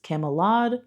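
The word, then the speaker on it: Camulod: to serving the king and the people of Camelad, which is spelled differently, by the way. I'm not pronouncing it wrong. It's C A M U L O D. So instead of Camelot, it's Camelad.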